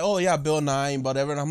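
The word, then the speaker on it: Bill Nighy: But it's because it's spelled differently, but it's pronounced the same.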